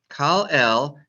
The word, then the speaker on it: Kal el: Silent letter aleph, but not a silent slot. Eh. Lamed el. Kal el. Just like Elohim, Eloheinu, Velohe. El is God. Kal el.